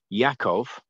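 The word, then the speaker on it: Yaakov: the lord yahuwah now yakov is is the hebrew pronunciation for jacob jacob and um it speaks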